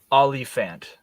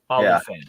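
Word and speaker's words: Olyphant: like that's how you say it it's like olifant or something like that olifant olifant that's it yeah yep oh yeah he's amazing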